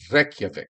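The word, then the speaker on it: Reykjavík: You have to roll your R's, Joe. Reykjavik.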